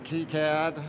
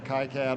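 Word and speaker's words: KiCad: Uh I'm going to be using Keycad. I've been informed that that's the preferred pronunciation, but uh since I'm an American, I might say Kyad or Freedom CAD at some point.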